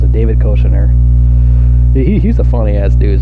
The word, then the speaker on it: Koechner: That's how you pronounce it, David Koechner.